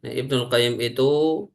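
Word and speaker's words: ابن القيم: Qayyim rahimahullahu taala menyampaikan Ibnul Qayyim itu ada dua cara baca. Kalau tanpa aljauziyah maka qayyimnya diberi alif lam seperti di sini. Ibnul Qayyimi. Tapi jika dengan tambahan jauziah maka qayyimnya tanpa al sehingga bunyinya Ibnu Qayyimil Jauziyah.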